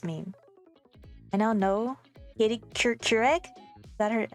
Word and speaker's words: Couric: I now know Katie Couric. Is that her, how you say it? It sounds like Keurig, like the coffee machine.